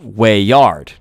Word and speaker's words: weird: And it drops the W, and it's just wayyard.